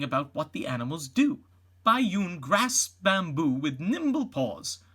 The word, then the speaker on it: Bai Yun: A young panda makes her own discoveries, while her mama, Bai Yun, pronounced Bai Yun, feasts on bamboo.